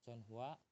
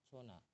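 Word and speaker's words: 전화: Itu kan chonhua, bisa juga dibacanya chona. Kayak gitu. Yonhua atau Jona. Intinya kalau ada nian terus ada hua di sini, itu kadang-kadang dibacanya na, chona, chonhua, kayak gitu.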